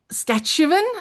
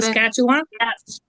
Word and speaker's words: Saskatchewan: And then there's Kirsten is from Sketch- Sketch-u-wan? Is that how you say it? Sketch-a-sh- How do you say that? Can you unmute, Kirsten? Saskatchewan.